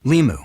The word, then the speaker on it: Limu: So is he only an emu because it rhymes with Limu, as in Liberty Mutual?